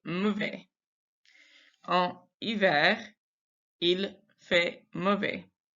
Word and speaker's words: mauvais: And then mauvais, again, we don't pronounce that consonant at the end. We don't pronounce the S. We just say il fait mauvais.